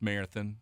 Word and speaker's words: Marathon: The locals will tell you it's pronounced Marathon, but come on. Oh, is it? Uh, yeah, that's the local pronunciation, but uh, an old sea captain named it after Marathon, Greece.